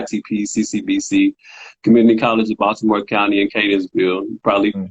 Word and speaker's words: Baltimore: And notice how I say Baltimore. We all don't talk like that. I didn't say Baltimore. I said Baltimore. You Thank you. I said know how with to the T, pronounce not the D.